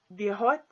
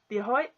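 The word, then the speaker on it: Dia duit: Hello is Diahoy. This is how it's spelled. Diahoy.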